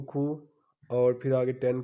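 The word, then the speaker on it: 구: अब 90 यानी कि 9 आ रहा है पहले, तो हम 9 को खू और फिर आगे 10 को शिप, यानी कि 9 10 आ गए तो ये कितना बन गया 90।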